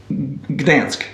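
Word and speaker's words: Gdańsk: thanks good thanks today but in English is pronounced Gdansk okay but anyway um so it's the town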